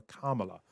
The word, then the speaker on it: Kamala: exactly how to say Kamala Harris's name. She said pretty clearly 4 years ago when she became vice president that it was pronounced the same as you pronounce the word comma.